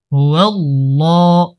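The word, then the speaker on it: هُوَ اللَّهُ: João, লাম খারা জবর লা, হুয়াল্লাহ, এটা আল্লাহ শব্দের লাম মোটা করে উচ্চারণ করতে হয়। হুয়াল্লাহ, হুয়াল্লাহ, হ্যাঁ লাম পেশ হুল, পরে যে লামটা আছে এটা কিন্তু আবার পাতলা করে পড়তে হবে।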